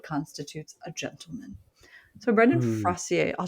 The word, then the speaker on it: Fraser: No, it's Fraser. It is pronounced Fraser. Like razor.